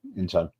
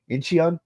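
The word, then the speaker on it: Incheon: When I first came to Korea, I was like inchion. But how do I pronounce that? It's basically like a short u, but they kind of uh romanize it as eo.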